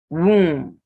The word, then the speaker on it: womb: Womb. So when you have MB ending words, the B is silent.